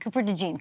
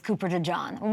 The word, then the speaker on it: Cooper DeJean: think Cooper de jeene Cooper de jeene but I mean you've done all this work and having to say what your name really is and pronounce it right all to go to Philadelphia where you're only going to be known as Cooper De John what is that like